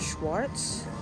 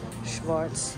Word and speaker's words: Schwarz: Not Schwartz, but Schwarz.